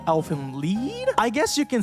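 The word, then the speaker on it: Elfen Lied: I've also spent my entire life up to this point pronouncing the title as Elfin lied, but apparently it's supposed to be pronounced Elfin Lead.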